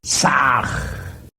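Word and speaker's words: Sah: Ham se escribe con las letras H-A-M. Saj se escribe con las letras S-A-H. La H suena siempre como J.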